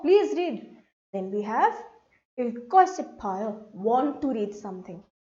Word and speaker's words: 읽고: Then we have 읽고 싶어요. Want to read something. So when these two letters are coming together, they will give me a sound of the stressed k sound. K.